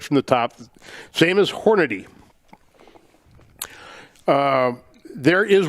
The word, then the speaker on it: Hornady: the top same as hornady uh there is one a in hornady and it is not in front of the y i have heard hornaday so much over the